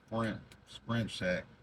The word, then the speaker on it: Skrimp Shack: You gotta say it like that, Skrimp Shack.